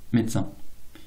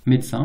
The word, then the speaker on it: médecin: très souvent se prononcer médecin. Quasiment systématiquement en réalité pour ce mot médecin. Voilà, on a supprimé le e.